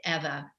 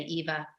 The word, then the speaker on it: Eva: called Call Me Eva, which is EVA, but the Spanish pronounce it Eva. We say Eva.